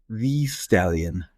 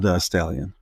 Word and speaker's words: Thee Stallion: It's Meg Megan Thee Stallion, not The Stallion.